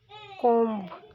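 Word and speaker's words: comb: स ऑफ the letter verb कोम इज not spoken कोम कोम में B letter की sound silent है कोम चच ऑफ द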